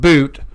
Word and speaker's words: Bout: anyways Brittany Greiner and Victor boot it's pronounced boot um we're going to